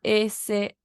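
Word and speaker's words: 说: Se escribe S-H-U-O.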